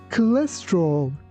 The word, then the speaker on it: cholesterol: Here, be careful that CH doesn't sound like CH. It sounds like C. And also be careful that we don't say cholesterol, we say cholesterol. Cholesterol.